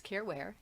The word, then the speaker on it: Caren Ware: more time here um Karen with the c c a r n i want you to care um is my last name w e so it Rhymes careware and if you Google